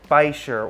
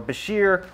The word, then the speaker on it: bichir: So this guy is the ornate Bichir, or Bichir, or Bichir. It's spelled B-I-C-H-I-R, from the family Polypteridae.